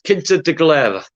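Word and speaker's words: Quinta da Regaleira: pronounce the garden in cintra now and it's kinta de galera okay that's how you pronounce it but yeah it's a beautiful beautiful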